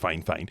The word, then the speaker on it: Fifine: k 65 8 podcast microphone now yes it's pronounced fine fine but this is actually the second fine fine